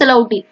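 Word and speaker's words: silhouette: இதுல வந்து சைலண்ட் word இருக்கும், SILHன்னு வந்துருக்கும். அதுக்கப்புறம் நார்மலா வரும். பட் இதை வாசிக்கும் போது நம்ம ஹச்சை யூஸ் பண்ணவே மாட்டோம். சில்க்னே வாசிக்க மாட்டோம். சிலவுட்டி, இந்த ஹச் இல்லாத மாதிரியே நம்ம அதை வந்து ப்ரொனவுன்ஸ் பண்றதுனால அது நம்ம கரெக்ட்னு நினைச்சுப்போம்.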